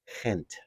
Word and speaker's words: Gent: got a see on it's not pronounced gent in Belgium it's pronounced hint hint hint hint I'm